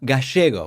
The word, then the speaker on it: Gallego: It is great to have back on the program Senator Ruben Gallego, or as we say in Argentina, Gallego, which is a less traditional pronunciation.